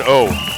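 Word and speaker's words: Ough: 1-1 on Wayne O. O is spelled O-U-G-H. O, Wayne O.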